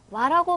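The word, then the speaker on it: は: 그런데 조사로 쓰일 때에는 와라고 반드시 발음을 해주셔야 됩니다.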